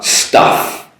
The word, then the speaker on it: stuff: So staff, compared to stuff, STUFF. That's an sound, like an umbrella or hut, Pizza Hut.